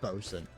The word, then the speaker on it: boatswain: Sorry, is pronounced bosun.